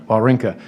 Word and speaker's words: Wawrinka: It's the quote we talk about often, the famous tennis player Stan Wawrinka, how do you pronounce it, Wawrinka? Someone who's a tennis guy. Wawrinka.